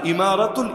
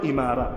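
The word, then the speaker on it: إمارة: ইমারা, আল ইমারাতুল ইসলামিয়া। একইভাবে ওই যে আরব আমিরাত, নাম শোনেন নাই? শোনেন নাই? ইউনাইটেড আরব এমিরাতস, ওই এমিরাত যেটা, আমিরাত যেটা, ওইটারই আরবি উচ্চারণ হলো ইমারা, মূল উচ্চারণ ইমারা।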